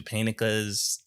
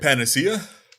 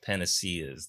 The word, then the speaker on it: panacea: it's magical or physical, but the panicas, or is that how you pronounce those? I never know how to pronounce that word. Panacea? Panaceas. There we go. Thank you for it, because I honestly been calling it a panica for like my whole life, bro.